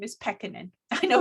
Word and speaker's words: Pekkanen: just wanted to say my last name is pekkanen i know it's a hard name to pronounce but it's peccad i tried not to pronounce the last names